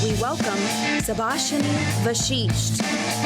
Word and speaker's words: Vashisth: your name my name is not pronounced teeth are super shiny I was afraid that people would actually start calling me super shiny well the fact that they are correct is not the issue my name is pronounced vashisht when I give it